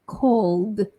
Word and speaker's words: called: with the ED, so CALLED, I need to say the d ending, right? Called, called. So not called, not t, but called, called. L, and then d.